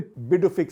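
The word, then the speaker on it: Pituffik: a military base on Greenland that is the Bic space base it's spelled p Tu but the pronunciation is BIC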